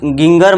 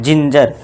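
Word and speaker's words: ginger: अब इसे गिंगर मत पढ़ना। जिंजर।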